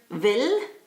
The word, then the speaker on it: will: different meanings is the the german word vil and it's written like the english word will yeah and it